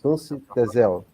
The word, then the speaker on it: Tunç Tezel: It's correct, my pronunciation of your name is Tunç Tezel.